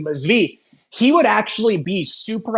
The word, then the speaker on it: Zvi: So it's like Zevi Zvi, I keep mispronouncing, but Zvi, he would actually be super audacious and go out of his way to piss off the Jewish religious leaders.